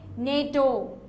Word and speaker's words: NATO: n a t o but we say nato here it's different you see SM Ms we say it letter by letter s o s m a m BBS un o but here it's NATO we say so when you say the abbreviation like a word then you see which